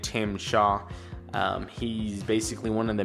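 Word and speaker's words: Tzim-Sha: we have Tim I I couldn't pronounce I had to like literally Google how to say his name but you say it Tim Shaw he's basically one of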